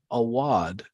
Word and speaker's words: Awad: So it's spelled OWDA. AWAD.